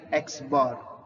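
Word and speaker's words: x̄: by the symbol xar this notation is read as X bar understood this notation my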